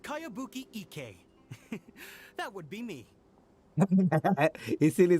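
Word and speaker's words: Kayabuki Ikkei: By Kawabunga Iki. Yomiya, this is a Kawabunga really Iki. strange name. ठीक बोल रही है, अजीब नाम है. Who's this Kawabunga? It's pronounced Kayabuki Ike.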